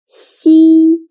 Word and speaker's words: xi: Xi sounds a little bit like the first sound of sheep, but when pronouncing xi, again, your tongue should be more flat, and you need to stretch your mouth to two sides.